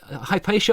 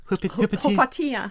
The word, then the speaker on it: Hypatia: Okay, so Hypatia or how did you pronounce it? Hypatia Hypatia That sounds slightly like you're sort of I don't know.